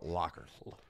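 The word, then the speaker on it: Lugher: h e r lur but it was spelled Locker or pronounced Locker um and Coach Locker was the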